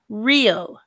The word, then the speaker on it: real: Real.